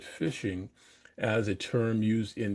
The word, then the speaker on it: phishing: We'll look at phishing, and this is again is spelled phishing. It's like fishing, the fishing, like you're fishing with a fishing pole, but we call it phishing as a term used